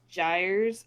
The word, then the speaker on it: gyres: It spells out gyres, but it sounds like the word tires with a J, but it's not spelled like that.